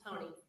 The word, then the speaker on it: Honea: Am I saying that properly, Ms. Honea? Honey. Honey. Yes. Okay. They're all saying it wrong.